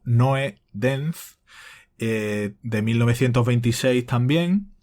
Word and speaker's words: Nodens: los nodens, eh, y aclaras pronunciado, Noe denz, eh, de 1926 también.